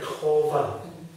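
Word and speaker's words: qavah: language we spell Q-A-V-A-H, which I think is pronounced something like Kova.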